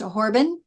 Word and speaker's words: Horobin: i n for and that's just pronounced horban it's slurred all together like there was no extra o in there okay so I may